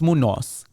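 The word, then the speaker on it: Munoz: wife or Widow sorry munz mun it's Munos Munos but yeah I'm white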